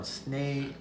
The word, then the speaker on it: snegle: Snaily, they call them snily. Snily is how you say it.